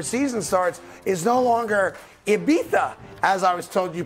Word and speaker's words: Ibiza: pro athletes before season starts is no longer Ibiza as I was told you pronounce it I thought it was Ibiza but Cody's uh Cody told me it's Ibiza I'm very bougie now that now you guys